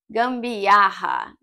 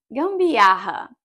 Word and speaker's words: gambiarra: We have a G sound, then we have an M sound, then we have the double R when we have to use our throat.